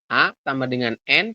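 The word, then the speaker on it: 앉: Anet ya enggak sih a n ama Z di akhir kan t harusnya Anet tapi di bacanya hanya an seperti ini kemudian yang terakhir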